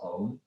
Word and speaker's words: Om: Make sure you pronounce Om as in Om, not as in bomb, like Om. It's Om.